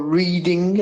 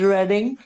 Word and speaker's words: Reading: Reading, or Reading, as the Americans say, but it is Reading, won at home in a London derby against Leyton Orient.